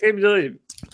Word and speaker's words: Aqib Talib: Aqib Talib.